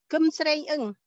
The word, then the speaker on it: Kim Sreng: Hello, my name is Kum Sreng.